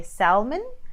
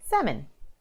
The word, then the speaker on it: salmon: so people might say Salman with the L in the middle but you omit the L and you say salmon okay so for example